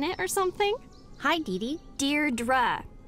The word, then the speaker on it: Deirdre: or something hi didi Deirdre I know it's got that tricky second syllable but I figured it out by age two don't give